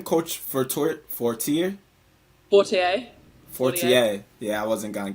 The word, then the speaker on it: Fortier: But I want to talk about, how do you pronounce her last name? Coach Fortier? Fortier.